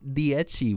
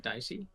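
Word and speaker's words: Dieci: a title in black dii wheels dii really got the Italian pronunciation there is it not dicey n no way no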